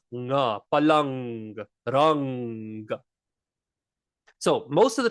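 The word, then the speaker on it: પલંગ: So when we have a g after the mindu, it is pronounced ng, palang, rang.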